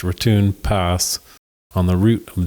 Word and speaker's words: Raton: Before very long, we got a ride in a truck, which took us over the Raton, pronounced Raton Pass, on the route of the old Santa Fe Trail to Raton, New Mexico.